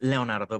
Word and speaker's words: Leonardo: nice uh talking to you leonardo am i pronouncing nonsense right is it leonardo or is it leonardo i don't is it it's leonardo but i think you you can call me